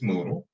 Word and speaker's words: Moodle: As you see, it's spelled like noodle, but it's Moodle.